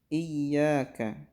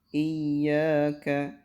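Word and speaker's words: إِيَّاكَ: adalah di diperas j83 pertama ia disini harus pakai tasyid Iyakah Terkadang ada orang yang melewatkan tasyid pada iya iya karena budu wa iyyaka nasta'in juga pakai tasyid apabila ia tidak pakai tested ya dibacanya maka tidak sah bacaan fatihahnya karena akan beda maknanya apa beda artinya ya jadi harus pakai pasif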